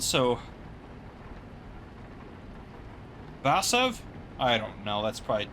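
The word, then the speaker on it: Warszawa: Yeah, cuz Warsaw is not really Warsaw, is it? In Polish, it's the W's have like a V sound. So, Vasv, I don't know.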